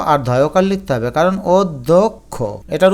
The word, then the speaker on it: অধ্যক্ষ: হবে অশিক্ষিত এটাকে আমরা অধ্যক্ষ বলি না বলে অধ্যক্ষ অর্থাৎ অ কে একটু ওর মত উচ্চারণ করি এজন্য ও দিবে ধলা আছে না এটাকে দ আর ধকার লিখতে হবে কারণ অধ্যক্ষ এটার উচ্চারণ হচ্ছে অতপর